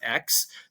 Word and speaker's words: AAX: to use our native token AAX, we pronounce it as X, to mint their educator